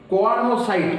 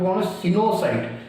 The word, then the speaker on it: choanocyte: मन रही एटा देख कोआनोसाइट इमिति पढ़ना, this is not wrong pronunciation, आपको कौन सिनोसाइट, CHOANOCYT, दैट प्रोनाउंस कौन होची सिनोसाइट।